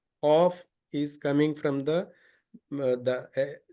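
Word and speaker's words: قاف: here fa so uh C is again the throat letter um you know there is a small um you know in Tel it called as a Kuka in English I don't know the name but it's a small tongue behind this um uh behind this point so here is the one just a minute please uh this one is a c cough is coming from the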